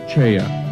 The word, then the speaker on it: Choi: His name is spelled as Choi in English, but pronounced Cheya in Korean.